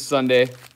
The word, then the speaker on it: Sundae: Her name is Sunday, spelled like an ice cream sundae, Sundae.